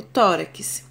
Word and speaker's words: tórax: Outro exemplo, tórax. Tórax, a minha sílaba tônica é tó. Última, penúltima. Por ser a penúltima sílaba, ela é uma paroxítona.